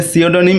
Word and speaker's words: pseudonym: এখানে দেখো প্রথমে পি দেওয়া আছে, পিটার কিন্তু উচ্চারণ হবে না, তো এখানে সিওডনিম এটার প্রোনাউন্সিয়েশন হবে সিওডনিম এবং এটার অর্থ হচ্ছে ছদ্মনাম।